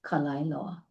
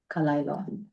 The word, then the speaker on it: Kalaeloa: One I have to correct this in pronunciation even though it's the continuous desecration and overbuilding and of a sacred area. It's Kalilo. Kalilo.